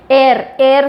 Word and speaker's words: Eyre: एयर से मिलता जुलता नाम है ना, स्पेलिंग से EYRE है, लेकिन प्रोनाउंसिएशन में एयर बोलते हैं, तो काटी ठंडा याद रखिएगा।